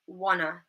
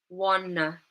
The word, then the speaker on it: wanna: And instead of saying want to, we might say wanna. So in these examples, the last syllable is unstressed, and we use a schwa sound. So we say gonna, gonna, gonna, wanna, wanna.